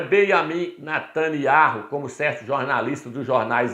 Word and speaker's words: Netanyahu: Muitos falam Yahu no final. O nosso presidente Jair Messias Bolsonaro pronuncia corretamente. Ele fala Benjamin Netanyahu. Ele pronuncia corretamente.